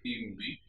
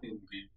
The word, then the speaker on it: hindi: with E or HI, because H is silent in Spanish. Let us see some examples. Estudio español e hindi en el colegio.